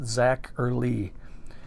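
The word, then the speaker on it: Zacherley: Mash by the master of monster zacher Le pronounced zacher Le in monal and scario so that's some good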